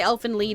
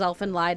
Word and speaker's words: Elfen Lied: I used to say Elf and Lead and then somebody told me that it was Elf and Lied and then I said